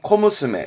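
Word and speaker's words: 小娘: 그러면 소낭 쓴 건 뭐냐면 발음은 코무스메.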